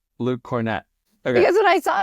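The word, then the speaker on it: Kornet: I promise you it's cornette Luke cornette okay because when I saw it I was like oh Hornet I even wrote it phonetically because it looked like Hornet on my paper so I wrote Hornet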